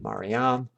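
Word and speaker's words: Μαριάμ: the other form maram the Greek accent is on the last syllable maram while the Latin accent is on the next last syllable Maria in both languages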